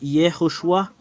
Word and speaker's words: Yehoshua: Alors, le fait de prononcer ce terme, c'est Yehoshua. Le voilà.